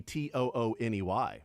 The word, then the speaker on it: Thuney: but it looks like Thuney, doesn't it? Tooney would be Tooney. Why does he spell it wrong?